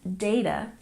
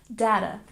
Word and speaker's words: data: have data so often this word is pronounced data but for me I'm used to pronouncing it like data you'll hear both ways pronounced but most often it is data and we stress the first syllable data data but for me